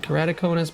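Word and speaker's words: keratoconus: So I have um a severe aigmatism in both eyes and I have um a condition called keraticonus or some people might pronounce it katiconus but I I think it's keraticonus but it's so it's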